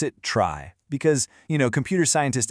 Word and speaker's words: trie: It's spelled like tree, but we pronounce it trie because, you know, computer scientists absolutely love to keep us on our toes.